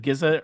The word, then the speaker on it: GZA: I think it's just pronounced Rizza and Gizza, RZA and GZA because they rhyme.